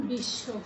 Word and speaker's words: বিশ্ব: বকলাটির প্রভাব পড়ছে যেমন বিশ্ব আমি একটু আগে বলছি বিশ্ব বিশ্ব কিভাবে উচ্চারণ করছি আমরা এখানে কিন্তু তালব্য স্বর নিচে ব রয়েছে আমরা সেই তালব্য স্বটিকে দুইবার উচ্চারণ করছি বিশ্ব আবার ঈশ্বর ঈশ্বর